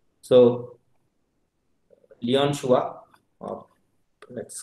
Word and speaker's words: Chua: Some people call it Chua also, but the correct pronunciation is Chua. So Leon Chua, or let's call just Chua, who have gave theory on memory stir almost in 1971.